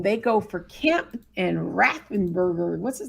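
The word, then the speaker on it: Raffensperger: So when they go for Kemp and Raffenberger, what's his name? Did I say it right? Raffenberger?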